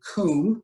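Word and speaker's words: Cwm: This canyon is known as the Western Coombe. That's spelled C-W-M. That's a Welsh word that means dish or valley.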